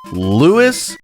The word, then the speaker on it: Louis: It's Louis Rossman. Lewis Rossman. It's spelled like French Louie, but it's said like Spanish Lewis where he pays for